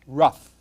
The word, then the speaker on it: rough: happens with english you take o-u-g-h put an r in front of it it's pronounced rough okay put a t